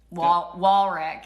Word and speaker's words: Warwick: Warwick is how they say it. W-A-R-W-I-C-K.